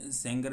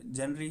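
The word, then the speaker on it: genre: तो सिनेमेटिक सेनरी, कई बंदे सेंगर भी बोलते हैं, बट ये जेनरी मैं इसको प्रोनाउंस करता हूँ, एंड जेनरी ही ठीक है ये।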